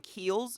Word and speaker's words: Kiehl's: sense the name yeah it's um keels so kiehl's is spelled k-i-e-h-l-s h-l apostrophe s and